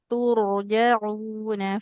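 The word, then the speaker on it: ترجعون: Roknya tebal. Tur. Tur. Karena roknya sukun didahului huruf berharokat dhammah. Wattaqu yawman turja'una fihi ilallah.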